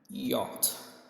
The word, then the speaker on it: yacht: I'm saying yacht is American while yacht is British accent or British pronunciation.